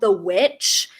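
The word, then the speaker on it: The VVitch: i really like is the one called the witch but which is spelled with two v's um and it's about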